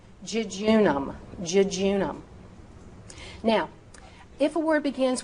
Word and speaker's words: jejunum: So if use the J sound if the J is at the beginning of the word. So obviously you would say jam. Jejunum.